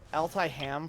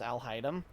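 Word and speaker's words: Alhaitham: hide them isn't it I keep saying it wrong I said I'll type altai ham for a long time before I figured out that it was Al haidem um and now it's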